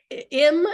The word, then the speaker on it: Im: Im is how you say it.